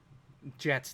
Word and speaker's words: Jet: His first name's Jet, not Jeff. I had it as Jeff for the first 9 races.